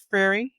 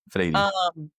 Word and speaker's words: Freire: And it's written by Paulo, I always mispronounce it. He's Brazilian, Freire. Yeah, Freire.